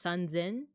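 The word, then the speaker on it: 三千: And then there's the special pronunciation for 3000, that's sanzen, so with a z instead of an s.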